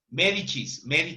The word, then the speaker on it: Médicis: Médicis, así se pronuncia.